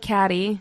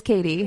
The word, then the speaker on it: Kattie: murray area allen and katie mount m-o-u-n-t am i saying your name's right you are you are katie is k-a-t-t two t's two teas it looks like catty but it is katie you've been dealing with